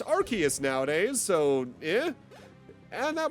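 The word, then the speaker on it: Arceus: exactly accurate given apparently I remember the one movie pronouncing it Arus, but apparently it's Archus nowadays.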